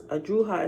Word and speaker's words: Drujas: And after Druhah, Druhah is spelled Drujas.